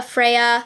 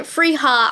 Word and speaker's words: Freya: odin's eye saga a freya oh my gosh you guys were coming down my throat because i was pronouncing it frija i'm learning spanish right now okay i was like pronouncing it in spanish anyways saga of freya